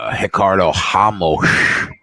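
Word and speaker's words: Ricardo Ramos: think that uh hicard hamos which is how he pronounces it uh wins I think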